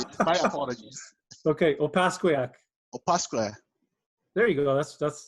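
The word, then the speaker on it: Opaskwayak: Opasquale. No, close. Well, not even. Not even close. I think I butchered it. My apologies. Okay, Opasquiac.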